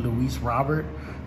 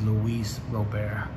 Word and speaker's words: Luis Robert: of other people's channels they always pronounce his name wrong they call him louise robert but his real name is louise robert so let's see here